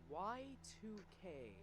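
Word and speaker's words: YIIK: then a month after yik came out pronounced y2k nah that's dumb as hell this game is yik i'd heard a lot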